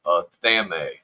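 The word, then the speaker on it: athame: In many traditions, this is called a thame, pronounced a thame. Oh, a thame.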